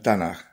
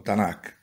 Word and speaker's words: Tanaj: resume en hebreo por tres letras que se pronuncian Tanaj o Tanakh.